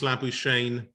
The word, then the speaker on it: Labuschagne: And someone, though, who's left no one in any doubt, Marnus Labuschagne. It rhymes, of course, with champagne.